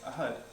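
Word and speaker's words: أحد: So to say 1, we say ahad. Ahad. Correct. That's really, 1. That was really good. Ahad.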